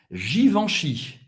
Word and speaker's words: Givenchy: Givenchy. Givenchy. EN em francês tem o som do AN. Givenchy. Cartier.